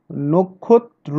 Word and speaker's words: নক্ষত্র: আমরা নক্ষত্রের বেলায়ও তাই দেখলাম, নক্ষত্র, নক্ষত্র না, নক্ষত্র, আমাদের এটা হচ্ছে শুদ্ধ উচ্চারণ।